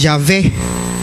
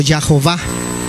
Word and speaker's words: Yahweh: Yahweh es equivocado porque no existe la W en el hebreo, es la B, es Yahvé o Yahová.